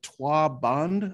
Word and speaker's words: trois bandes: The other one that I love, and if anybody here speaks French, I apologize, my accent is very bad, but it's the trois bandes, I think is how it's pronounced.